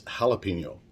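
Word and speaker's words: jalapeño: And if you want to pronounce it properly, it's jalapeno.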